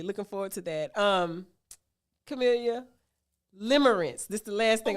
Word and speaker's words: limerence: Camellia, limerence. This is the last thing I want to ask you. Yeah. Limerence. Oh. Did you look it up? No, I ain't looking. Okay, limerence is when you think you're in love, but you're not.